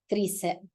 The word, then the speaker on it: tricep: It is not bi and it's not tri. That is never how an I is pronounced in Spanish. It's always E, bicep, tricep, quadricep.